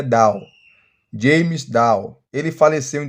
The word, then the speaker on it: Dunn: Muita gente fala Dan, mas a pronúncia correta é Dow.